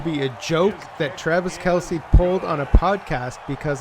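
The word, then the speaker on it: Kelce: snap waiting looking throwing left side and caught kelsey in the end zone touchdown west west takes the lead six nothing thrown to travis kelsey and i have to apologize to you mater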